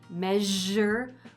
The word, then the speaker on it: measure: Have you ever noticed that the sound in the middle of the word measure is the same as the sound at the end of the word mirage? Zh, measure, mirage. One is spelled with an S and the other is spelled with a G, but they're both the same speech sound.